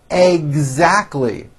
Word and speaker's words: exactly: is directly re responsible exactly three syllables exactly it's exactly what we always